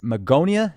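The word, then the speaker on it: Magonia: And if we were to go back to the Meonia, is that how it's pronounced? That's right. Um, Megonia was a fabled place um in in French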